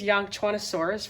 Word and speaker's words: Yangchuanosaurus: Oh, also, this is Yangchuanosaurus for anyone who wants to say it correctly.